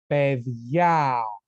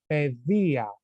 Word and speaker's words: παιδιά: Okay, So it's going to be ta παιδιά, and the tone is going to be in a. Okay, because if the tone was here in e, you will pronounce this word like ta παιδεία, and this is wrong. It's ta παιδιά. The tone is in a.